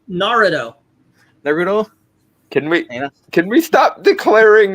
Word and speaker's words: Naruto: It's Naruto.